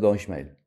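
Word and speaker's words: ישמעאל: vous savez tous que dans Ismael Ismaël le Alef il est pas ponctué on le prononce pas les gens ils veulent mettre le chemkel mais il y a pas làbas Ismaël maintenant quand vous prononcez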